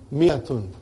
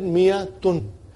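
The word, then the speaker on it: مائة: Miyatun. I wrote alif, but I did not pronounce.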